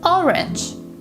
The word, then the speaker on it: orange: syllables and unstressed syllables orange the first syllable is stressed information the stresses on